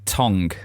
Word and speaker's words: tongue: the way I say tongue well that's that's not how you say it right how do you say Tong Tong it's a silent G you northern monkey Tong